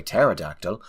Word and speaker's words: pterodactyl: Patera doctor or a pterodactyl like a fish so every time I see the word pterodactyl I have to pronounce the P like a jackass so he saw Donna